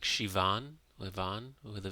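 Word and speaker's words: Siobhan: name of Irish origin And how do you pronounce that? Like Shivon Levon with a V.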